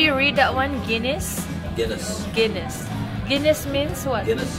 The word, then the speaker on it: Guinness: Guinness.